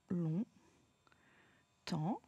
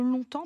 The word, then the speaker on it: longtemps: Le S, je ne l'entends pas. Là, on va l'épeler ensemble le mot longtemps, parce que déjà, c'est